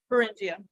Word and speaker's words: Beringia: Beringia.